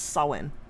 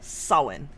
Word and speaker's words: Samhain: That's actually pronounced Samhain. A what? Samhain.